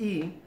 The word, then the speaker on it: y: want to know about the pronoun II pronounced e it's a pronoun it